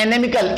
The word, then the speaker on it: inimical: इसका जो उच्चारण होता है एनिमिकल, इनिमी, एनिमी, एनिमी, एनिमिकल, एनिमी आएगा कल, एनिमिकल, एनिमिकल, हाँ एनिमी आएगा कल, राइट। तो एनिमी जैसा साउंड करता है, तो इसको एनिमी से याद कर ले।